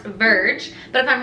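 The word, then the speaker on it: Vrg: It's spelled V-R-G, so I'm assuming it's supposed to be pronounced Verge, but if I'm wrong, you can correct me down in the comments.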